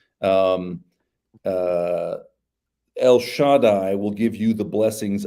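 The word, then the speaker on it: שַׁדַּי: and he blesses Joseph, and he says, El Shaddai will give you the blessings of breasts and womb.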